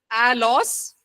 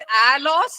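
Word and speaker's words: ἄλλος: One word is एल एलोस। और एक शब्द जो है उसको एलोस कहते हैं। ए एल एल ओ एस।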